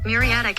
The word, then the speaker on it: muriatic: stood out would be the muric acid I think that's how you say it I'm wrong it's muriatic acid okay Carry On I